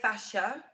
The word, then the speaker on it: fascia: I would tend to say fascia Fascia. with a silent C, Yeah.